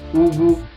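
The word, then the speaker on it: Ugwu: So GW comes directly from your throat, or from within you, or from inside you. Like you are barking. It's funny, right? Like you are barking. That's how it is pronounced.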